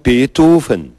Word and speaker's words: Beethoven: As pessoas dizem Beethoven. E como é o certo? E não é. Beethoven. Você fala assim? Claro, Beethoven. Essa é a pronúncia alemã.